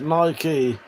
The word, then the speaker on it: Nike: Nike is an American brand and actually pronounced Nike, and us Brits say it wrong.